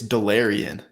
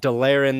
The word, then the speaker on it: Delarrin: I think it's Delarrin, like the DeLorean.